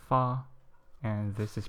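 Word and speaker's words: 发: It's pronounced as ba, and the reason why it's auspicious, why it's regarded as auspicious, is because prosperity in Chinese is pronounced as fa, and this is pronounced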